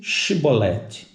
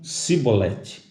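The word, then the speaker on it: שיבולת: Então eles diziam, dize Shibolete. Shibolete quer dizer uma porção de semente. Então eles falavam, dize Shibolete. Porém, eles diziam Sibolete, porque não podiam pronunciar bem essa palavra que seria essa pronúncia do X.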